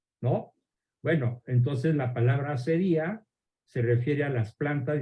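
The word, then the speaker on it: acedía: En el diccionario van a encontrar otra palabra muy parecida, pero que tiene el acento en la I, la asedía.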